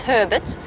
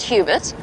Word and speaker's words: Hubert: it's Hubert it's it's Herbert Herbert not Hubert obviously that's that's how he wants us to pronounce it it's slight it's spelled slightly different but he wants it pronounced Herbert well that's how he